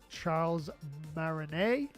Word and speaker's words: Charles Martinet: There's less energy behind it than when Charles Martinet, I'm presuming you don't pronounce that T, was doing the voices.